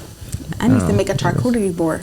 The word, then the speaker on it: charcuterie: I need to make a charcuterie board.